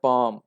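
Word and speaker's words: palm: एक लफ्ज पढ़ते हैं, पाम। लफ्ज है पाम। एल तो साइलेंट है, इसका तो एल का तो स्ट्रोक लिखना ही नहीं।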